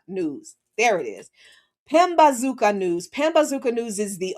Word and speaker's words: Pambazuka: I always mispronounce this. Pambazuka News. There it is. Pambazuka News.